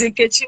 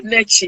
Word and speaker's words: Nkechi: So if you want to go the Italian pronunciation, you do Nechi. If you want to go out, you say Neki.